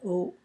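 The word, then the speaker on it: 鸥: Hai, O. Hai is pronounced in the third tone, and O is in the first tone, O.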